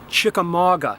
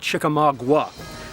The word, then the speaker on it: Chickamauga: The most mispronounced battlefield, in my opinion, strongly, Chickamauga, not Chickamauga. I also hear people often